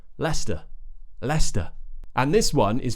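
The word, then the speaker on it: Leicester: but it's just and then we have St at the end Lester leester and this one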